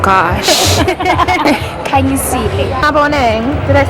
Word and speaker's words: Maboneng: Maboneng.